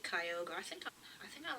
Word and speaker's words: Kyogre: awesome um i still really like latios um kyogre some people used to call it kyogri i know some people pronounce it kyogri i don't know why but um i like kyogre i think i think i like it more